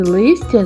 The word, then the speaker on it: лис: У слові лис? Приголосний л вимовляється твердо. А в слові ліс він інший, м'який. вимовляється ніжно і лагідно.